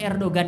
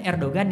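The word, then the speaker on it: Erdoğan: Sama Erdogan itu kalau kita ngomong kan Erdogan ya. Itu salah itu logatnya. Ya. Erdogan, ya. Orang mereka bilang Erdogan, tapi kita baca karena G kan tulisannya Erdogan.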